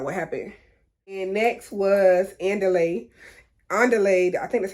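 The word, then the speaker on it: Andile: lay i can't remember but it sounded like i delayed what they said but i guess because my english accent it don't sound like them it's not like i'm saying underlay like in spanish you know under the underlayment oh but that's how they say his name y'all anyways underlay he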